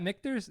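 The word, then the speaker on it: Michter's: Is that Mictors? Is that what it's called? How it's pronounced? Yeah, it's called Mictors. They do rye and regular bourbon. This is the Mictors American.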